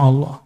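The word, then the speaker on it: الله: Nama Allah, tulisannya ada nama Allah. Dia melihat ada orang buang kaligrafi yang di situ tulisannya alif lam lam ha. Bacanya apa? Allah.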